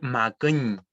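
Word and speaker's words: makuñ: Si puedo repetir, makun, ¿ya? Es importante, ¿cierto?, la pronunciación tanto de la secta vocal como de la ñ al final, que es una particularidad del mapudungún, que muchas palabras terminan en ñ.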